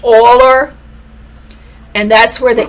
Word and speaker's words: Euler: he spells his name like this but it's pronounced euler and that's where the e comes from and